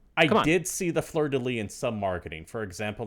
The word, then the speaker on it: fleur-de-lis: Fleur-de-lis.